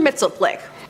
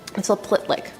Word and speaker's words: Mxyzptlk: Mxyzptlk. Mxyzptlk?